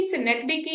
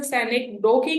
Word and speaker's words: synecdoche: So class basically सिनेक्डिकी, एक तो इसकी प्रोनाउंसिएशन सेनेक्डोकी नहीं है, इट इज सिनेक्डिकी. सिनेक्डिकी. ठीक है. ओ को आपने थोड़ा सा साइलेंट करके लेके जाना है. सिनेक्डिकी.